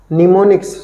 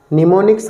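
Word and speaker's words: mnemonics: कहा जाता है इसको निमोनिक्स सॉरी निमोनिक्स कहा जाता है ठीक है इसमें एम साइलेंट है तो निमोनिक्स कहा जाता था एड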